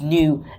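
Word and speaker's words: nu: like a V it's not a v it's new and when you translate or translate it or pronounce it it's a it's a n it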